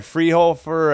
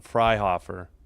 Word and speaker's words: Freihofer: Oh, Freihofer. Okay, I was saying it wrong. Freihofer. I guess that makes sense. It's F-R-E-I. Hofer. I would have thought Hofer.